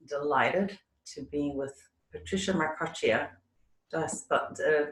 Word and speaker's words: Marcoccia: I am delighted to be with Patricia Marcoccia. Did I pronounce it correctly? Marcoccia, yep. Marcoccia.